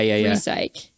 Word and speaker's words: Resyk: to talk about the Resyk, or how Resyk? the machine at the end. Oh, recycling. Yeah. Resyk. I'm pretty sure that's how you pronounce it.